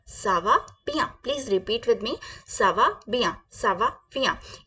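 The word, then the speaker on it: merci: बिया सावा बिया सावा बिया प्लीज रिपीट विद मी सवा बिया सवा बिया या फिर हमें बोलना है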